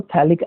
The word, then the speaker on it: थैलिक: इसको थैलामाइड बोलते हैं, क्योंकि ये जो एसिड है इसको थैलिक एसिड बोलते हैं, पी साइलेंट है, थैलिक एसिड से बना थैलामाइड।